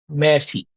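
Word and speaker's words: merci: is there okay but the r is very soft that's why it's not always clearly audible but the r you still have to pronounce it so it's Mercy Mercy Mercy correct very good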